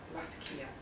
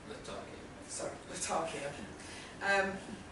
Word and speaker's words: Latakia: kidnapped and drugged 2 weeks prior in northern Latakia. Yes, I think that's how you pronounce it. Latakia.